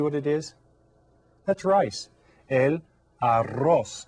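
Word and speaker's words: el arroz: it is that's rice El Aros and go ahead and say that one because you get to roll your R AR okay there's another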